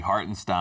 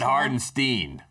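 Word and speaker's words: Hartenstein: And also I do feel like by the end of this series we will be pronouncing his name correctly. Hartinstein. Oh, not Hardenstein.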